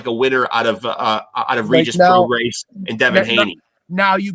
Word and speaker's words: Prograis: I found out that Prograis that's how you pronounce that last name. You don't pronounce the S. Right. It's Prograis.